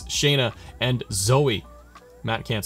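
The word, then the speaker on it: Shayna: pretty deadly Shaina and I said Shane it's Shaina and Zoe Matt can't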